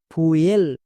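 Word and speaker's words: fuel: এর জন্যই তো ম্যাজিক টিপসটি বলবো তাহলে এর উচ্চারণ কি হবে ফুয়েল এবার কোশ্চেন হচ্ছে আগেরটা উয়েছিল এখন উই হচ্ছে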